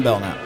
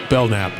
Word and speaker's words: Belknap: yes I am bellnap yeah the K is silent so don't even go there b e l k n a p bellnap there it is you